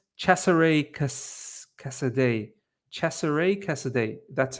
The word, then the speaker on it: Cesare Casadei: Pronounce Cesare Casadei. Cesare Casadei.